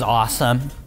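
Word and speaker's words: Ahsem: your pets name okay so my name is awesome awesome no okay so it's spelled AHS e m where's that name from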